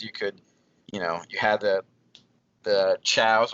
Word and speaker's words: Chao: You could, you had the chows, which I called KOs at the time because I didn't know how to pronounce them because they're chaos based, and switching characters like that, it was cool.